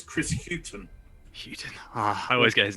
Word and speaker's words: Hughton: It's Chris Hughton. Houghton. I always get his name wrong.